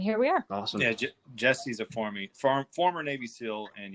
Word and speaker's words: Jesse: Jesse, yeah. Jesse, yes. I always say Jerry, but Jesse was there.